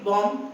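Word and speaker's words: bomb: Then there are more words like if आई से the word बॉम्ब बी ओ एम बी बॉम्ब तो उसमें B silent होता है last वाला।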